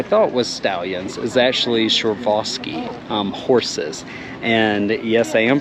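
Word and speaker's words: Przewalski: so what I thought was stallions is actually surevaski horses and yes I am pronouncing that right it is spelled with a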